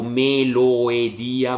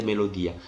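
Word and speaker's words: μελῳδία: con la e e Qui invece non è tipo Melo Edia ma è semplicemente melodia Beh perché quando la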